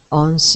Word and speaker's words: once: Was once just another. Was once. When we say that word once upon a time, it's got a worse sound at the beginning, like one.